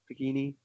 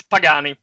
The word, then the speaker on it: Pagani: Pagini? It's Matteo there. Please, Matteo. Can you hear me now? Oh, excellent. I can hear you now. No, it's Pagani, actually. It's like the car.